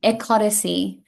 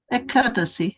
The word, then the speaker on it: Ekadasi: Ecodicy. Ekadasi. Yeah, Ekadasi. I've heard Americans call it ecodicy or ecodicy, but in Australia we say it ecodicy.